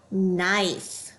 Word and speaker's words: knife: You should also notice the KN. The K will be silent. All we hear is the N. Let's read this word. Knife.